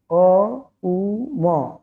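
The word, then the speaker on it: ওঁ: এই জন্য ওঙ্কারের নিয়মই হলো কি, ওঙ্কার যখন আমরা উচ্চারণ করব, অং ওম অনেকে অনেক রকম বলে দেয়, তো অ্যাকচুয়ালি কিন্তু বলতে হবে অকার, উকার, মকার, এই তিনটি আকার মিলে গিয়ে ওঙ্কার। অকার, উকার, মকার, অ উ ম, এই হলো গিয়ে সবকিছুর মূল।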